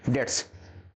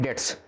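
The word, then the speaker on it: debts: substitution का a person who कैन नॉट पे डेप्ट्स इसको कभी भी आप लोग क्या नहीं पढ़ेंगे डेप्ट क्या पढ़ते हैं डे्स ठीक है इसमें बी होता है साइलेंट डे्स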